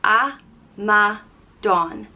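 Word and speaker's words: amadán: sense next up is amadon and it means fool and it's pronounced a ma don amadon it's not really a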